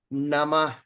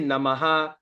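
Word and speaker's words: नमः: Namaha, Namah. Okay. Ha. So we don't say Namaha. So Namah. Ha. Okay. The sound is A is silent.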